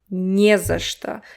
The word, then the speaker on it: не за что: First of all, this че sounds like sh, right? Sh, что. And the vowel reduction. So the last o is not stressed. This не drags the entire word to it. Не за что. Не за что. You see, only the first syllable is strong.